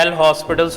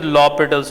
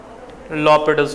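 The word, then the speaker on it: L'Hôpital's: हाँ, वैसे तो ऐसे लोग कहते हैं एल हॉस्पिटल्स रूल, लेकिन pronunciation is लॉपिटल्स rule. Pronunciation is लॉपिटल्स rule.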